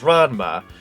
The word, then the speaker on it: Ranma: I don't know how exactly you pronounce it, but I think it's it's it's Ronma. It's Rama, I think half or one over two or RMA half or however you pronounce. It's Ranma.